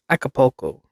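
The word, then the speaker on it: Acapulco: no I don't like not I don't like mispronouncing words it's aapco aapo it's a city in Mexico a ticket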